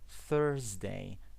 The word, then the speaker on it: Thursday: The first sound is th. Thursday. Okay? Thursday. Think. Three. This is the sound. Okay, this is the the sound. It's very important.